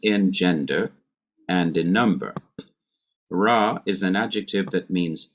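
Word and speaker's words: רע: And we have the adjective ra. Remember that ayin is not pronounced. So I'm just pronouncing the sounds of resh and pathak. Ra.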